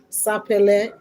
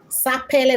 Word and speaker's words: Sapele: Sappel. Sapple. That's how you spell. Just pronounce it. Sapp.